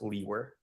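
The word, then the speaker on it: Liewer: is spelled l-i-e-w-e-r and it's pronounced Lee were and where are you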